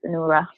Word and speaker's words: Onuora: Is that how you say your last name, Onuara? That is correct. It's Onuora.